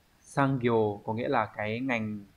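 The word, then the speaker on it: 産業: Sang ghiều có nghĩa là cái ngành công nghiệp, cái ngành nghề, cái ngành sản xuất.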